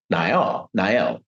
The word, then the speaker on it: Niall: Which brings us to the point of this quote by Niall, pronounced Niall, Fitzgerald, the former chairman of Unilever.